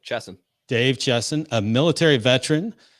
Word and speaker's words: Chesson: Do you pronounce it Chesson? That's correct. Yep. Chesson.